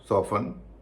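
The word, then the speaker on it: soften: ऑफन सोफन लिसन फासन wrestle bristle castle चेसनट मॉगेेज अब हम जानेंगे कि इन शब्दों में टी साइलेंट क्यों होता है।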